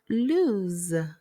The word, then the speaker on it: lose: Now when you pronounce lose, you use the long O sound and end it with Z. Lose.